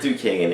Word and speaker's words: Duquesne: It's pronounced Duquesne.